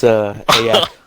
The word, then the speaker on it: Ayak: with me today, and uh, or Ayak, I guess, if I want to pronounce it correctly. It's Ayak.